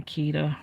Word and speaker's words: Keita: I go by Keita, rhymes with Rita, and I am an artist of many sorts.